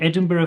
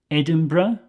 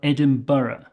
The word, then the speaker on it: Edinburgh: Scotland you might hear Edinburgh or edmur okay those are the two accepted pronunciations in Scotland people visiting Scotland might say Edinburg with a hard g at the end but I want you